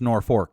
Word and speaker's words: Norfolk: North Fork Nebraska it's it's spelled Norfolk like that place in Virginia but it's pronounced nor fork I know I've been